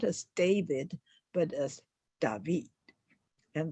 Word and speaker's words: David: is his name dby d a v i d because he's French so you can you say his name not as David but as David and that last D you hardly speak up so it's dby and